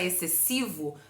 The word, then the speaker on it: excessivo: faz a leitura excessivo nós não pronunciamos o x nesse dígrafo que é o XC o x não tem som a palavra excessivo vem de excesso excesso